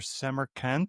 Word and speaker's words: Semerkant: Today I have Sabir Seammer Kant.